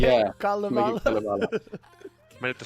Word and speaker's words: Kalevala: Kalevala. Might have to spell it for people here.